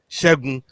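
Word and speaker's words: Segun: You say it properly, man, with some oomph. Shegun. That's how you say that okay.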